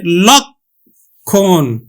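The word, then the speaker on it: লক্ষ্মণ: আর এই যুক্ত বর্ণটি যদি শব্দের মধ্যে বা শেষে থাকে তাহলে কিন্তু কখের মত উচ্চারিত হবে। এইজন্য কিন্তু এখানে উচ্চারণ হবে লক্ষণ।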